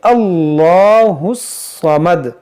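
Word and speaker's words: اللَّهُ الصَّمَدُ: देखिए, हम इस 'अल्लाह' के 'लाम' का उच्चारण दृढ़ता से करेंगे क्योंकि यहाँ एक 'फतह' है। यदि अल्लाह के शब्द से पहले 'फत्था' या 'दम्माह' आता है, तो उसका उच्चारण दृढ़ता से किया जाता है।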